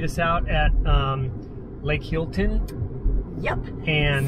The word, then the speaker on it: Healdton: he'll run right so someone said helton and so we we're we were doubting because we've totally screwed up pronunciations of towns before in the past but it's hilton these are the bathrooms